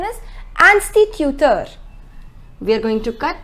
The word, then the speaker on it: instituteur: The pronunciation is instituteur.